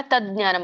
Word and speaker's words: ತಜ್ಞಾನಂ: ಸರ್ವೇ ಸರ್ವೇಷು ಮೂರ್ದನಿಷ ಭೂತೇಷು ಮತ್ತೆ ತಜ್ಞಾನಂ ಕೂಡಿಸಿದಾಗ ತಜ್ಞಾನಂ ಆಗುತ್ತೆ ದ ಕೇಳಿಸುತ್ತೆ ಅಲ್ಲಿ ಜ ಕೇಳಿಸಲ್ಲ ತಜ್ಞಾನಂ ತಜ್ಞಾನಂ ವಿದ್ಧಿ ಮಹಾಪ್ರಾಣ ಇದೆ